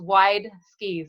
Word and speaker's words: Wideski: to negotiate that phonetically it's wide ski so it's it's WI